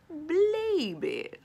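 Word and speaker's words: Blabey: Blaby rhymes with Raby.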